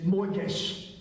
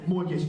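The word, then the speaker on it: מוֹקֵשׁ: New Living Translation is moikesh. All right? In the Hebrew. All right? I'll give you a quiz later to make sure that you got that. Okay? Moikesh. M-O-K-A. S-H-E is phonetically how it looks.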